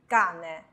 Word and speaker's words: cane: 的意思，这个词读 cane， cane。